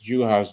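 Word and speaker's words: Juhász: It's Dorka Juhas. I'll tell you how to spell it though. But yeah, I remember watching her in the Pac-12. But it's Juhas, Juhaszz.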